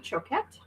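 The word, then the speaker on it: Choquette: C H O Q U E T E Chocet, I believe is how you say her name.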